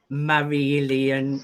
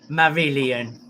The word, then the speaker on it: Marillion: well i have to be careful how i pronounce it but you also worked with marilyn as well marilyn you my mum got excited